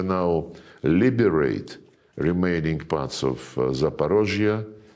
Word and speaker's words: Zaporozhye: And when we now liberate remaining parts of Zaporozhye, this is the Russian way to pronounce it, and Kherson, the people,